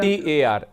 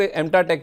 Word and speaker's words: MTAR: MTAR, MTAR defence का stock है ma'am, MTAR। अच्छा एमटीआर, ओके ओके ओके, ठीक है। कुछ लोग एमटा टेक भी बोल देते हैं मैम, बस अपना प्रोनाउंसिएशन है और कुछ नहीं।